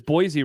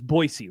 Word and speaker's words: Boise: Jeff says Josh always says Boise wrong. Is it because it's Boisey, right? Boisey state. Yeah, they're pretty anal about that. It's Boisey.